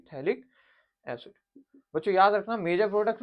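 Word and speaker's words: phthalic: बोलेंगे potassium salt of थैलिक्स इड अब spelling थोड़ी सी गलत है भाई potassium salt of थैलिक्स इड P eighty H ए एल आई सी थैलिक्स बच्चों याद रखना मेजर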